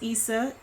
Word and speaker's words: Isa: But it is pronounced Isa.